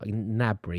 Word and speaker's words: Gnabry: It's like a Gnabry. You have to whisper the G. You have to pretend you're going to say the G, but they're not. It's like Gnabry.